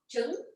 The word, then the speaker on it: Trứng: How is it pronounced? Trứng. Tung. Tung. Yeah, pretty Trứng. tricky. Tunga is egg coffee. Yeah. No. Just egg. Chicken I egg. just egg. Yeah. Tung.